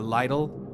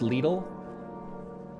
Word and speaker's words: Lidl: Little's more like you say little, the way you say it.